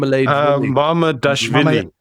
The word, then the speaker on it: Mamadashvili: Mamadashvili.